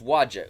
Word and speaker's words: Waja: That's Waja. You can take your cue from the sound that the monster makes.